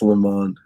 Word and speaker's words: Lemond: It's Lamont, right? That's how you say it. Yeah, it's Le Mans.